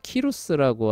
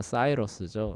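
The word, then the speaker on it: Cyrus: 이거 라틴어식으로 읽으면 키루스잖아요. 키루스. 예. 예. 그래서 이제 영어식으로 읽으면 사이러스죠. 이게 이제 그 고레스입니다. 아, 고레. 예. 그 고레스도 한자식으로 읽어서 고레스인 거예요. 키로스를 고레스라고 하는게 그렇게 읽어서 그런 겁니다. 근데 영어식으로 이제 사이러스죠.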